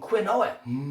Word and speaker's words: quinoa: Then I have some quinoa. Quinoa. Now apparently it's not pronounced quinoa, even though it's spelt that way.